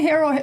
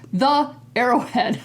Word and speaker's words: The Arrowhead: front of it and it's did I say hero yes the arrowhead I was saying it wrong earlier it's important